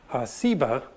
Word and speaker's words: Seba: related that has just a different S sound, Seba.